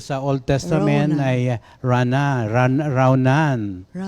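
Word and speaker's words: ranan: Raunan. Raunan. A r a n a n. N. Oo. Pero it is pronounced as ronan.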